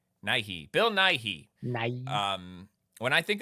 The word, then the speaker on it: Nighy: How do you say it? Bill Nighy? Bill Nighy? Bill... How do you say his name? Nighy.